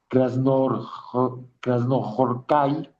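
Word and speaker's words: Krasznahorkai: Laszlo Krasnorhai, o como se pronuncia, eh, Krasnohorkai.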